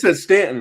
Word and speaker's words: Staunton: Stanton, right? Yeah, but it's spelled Stauton.